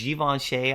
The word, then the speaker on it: Givenchy: I was always mispronouncing it. But it's Givenchy, I believe.